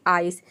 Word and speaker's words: ice: आई pronounce करते हैं जैसे कि आइस यहां पर देखिए आई का आई हो जाएगा सी का हो जाएगा स ई साइलेंट है क्योंकि वर्ड के अंत में आया है पूरा हो जाएगा आइस आइस का मतलब होता